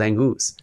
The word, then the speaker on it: Angus: Sam, we have Angus, which is what we established. We established that's how you say his name. We didn't know for these last couple of years, but he actually likes to be called Angus.